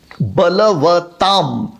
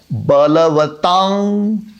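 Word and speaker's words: बलवताम्: अच्छा, बलवताम म आधा, इस तरह से भी उच्चारण सही है और बलवतांग इस तरह से उच्चारण करें तो वो भी सही है।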